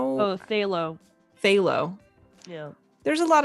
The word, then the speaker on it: phthalo: Yeah, like, isn't there a P in there somewhere? PHTHALO blue. Thalo blue. But Thalo. Thalo. Yeah, I could spell that with like 4 letters, not 7.